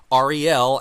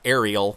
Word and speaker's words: Ariel: And your name is actually pronounced Ariel, as sort of like the letters of the alphabet, R-E-L, not Ariel. I hear a lot of people saying Ariel, right?